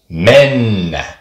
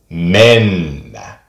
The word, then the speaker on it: mennä: word for to go, mennä. Mennä. Just like with the letter M, there isn't a pause as much as there is just a longer version of the sound. Mennä. Mennä.